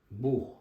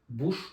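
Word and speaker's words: Buch: böyle ince ünlü olursa ama kalın ünlü olursa bu sefer de kalın H harfini veriyor a u ve o önünde olursa mesela Das Bu kitap demek buh Mesela bu hani yukarıda ş gibi okunuyor demiştim ya buna buş diyemeyiz Yani kalın h harfi veriyor buh Das buh ya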